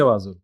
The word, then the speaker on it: Wazuh: No, but I say Wazuh. Even I say Wazuh.